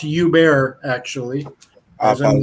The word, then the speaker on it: Hubert: Basically, I'm Hubert, and it's pronounced Hubert, actually. I As in like, hey, apologize. Hubert. I'm Belgium. It's a French thing. H and T are silent.